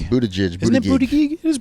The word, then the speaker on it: Buttigieg: I don't know how to pronounce his last name. Buttigieg.